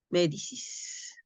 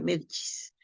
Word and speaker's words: Medici: una familia de italianos medicis no pero se pronuncia medis aj Exacto incentivaron el